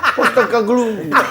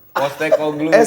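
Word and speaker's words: Postecoglou: Angst ang pos glue pos glue eh bacanya posog glue. Postek glue.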